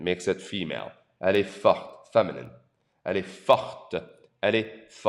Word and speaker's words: fort: Notice again, the T is silent. Il est fort.